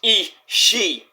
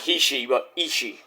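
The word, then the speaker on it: Ishii: that Hiroshi tanahashi hirokigoto here's one you that everybody butchers ishi not is e She it's two eyes but it's pronounced e she not he she that's a Japanese name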